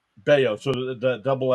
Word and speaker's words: Bello: it's pronounced it's Brian beo beo so the Double L is like uh like what's his name with the Phillies casos even though it's two L's it's got that Y sound uh cutter Crawford Walker